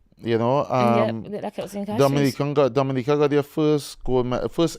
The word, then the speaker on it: Dominica: it represents first she first she tell them is not the Dominican Republic and you don't pronounce it that way is Dominica but I want you